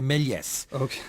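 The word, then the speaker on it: Méliès: Paul telling me that the S is actually pronounced in melier so I should say meles way I say seemingly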